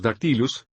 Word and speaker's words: dactylus: Efectivamente, cuando decimos dactylus, dáctilo pronunciamos una sílaba larga y luego dos breves.